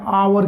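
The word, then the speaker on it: hour: से शुरू होता हो देखो हावर है उसमें चाहे यह शुरू कॉन्सोनेंट से हो रहा है लेकिन ऐसी साइलेंट है अवर की ध्वनि ए रही है तो क्या ए जाए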